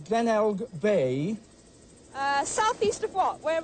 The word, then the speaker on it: Glenelg: and I'm not- We've got it, Pronounce it Glenelg. Glenelg.